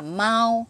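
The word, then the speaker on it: 毛毛: là lông nhưng mà nói về tên nó không phải là Lộc là Long mà nó đọc là mau nói về tên thì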